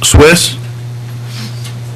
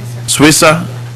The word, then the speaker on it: Suissa: is it Swiss? Did I pronounce that correctly? Suissa? Okay. And Mark McClure.